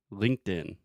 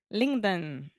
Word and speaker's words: LinkedIn: So the first part is when you say linked, you are just adding a T sound after the K.